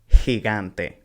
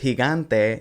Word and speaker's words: gigante: So, gente and gigante. With gigante, notice that the first he sounds like h, and the second one sounds like g.